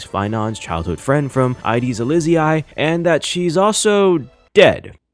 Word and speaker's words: Cyrene: And yes, her name is pronounced Cyrene.